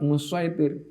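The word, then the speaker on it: مصيطر: Tapi bacanya pakai shad musaitir.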